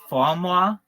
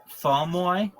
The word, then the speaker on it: Fauxmoi: It's called Famoi. It's spelled FAUXMOI. It's very popular in the United States. Famoi. It's FAUXMO. Yep, MOI.